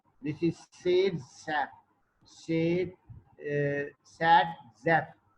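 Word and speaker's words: Zaitsev: Again, vowel followed by V shall pronounce as like F. This is Sadzev.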